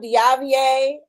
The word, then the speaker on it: Diavier: Um I am Diavier. Um the R is silent.